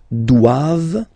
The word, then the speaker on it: doivent: And then the last one, ils doivent. So same thing, classic ending for the plural form, ENT here. Okay, but then you don't pronounce it.